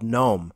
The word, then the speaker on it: GNOME: desktop windowing environment is gnome also called gnome another the open-source competitor